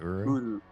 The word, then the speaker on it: Uru: So, how was the was that Uru? Is that how it's pronounced? Yeah, Myst Uru.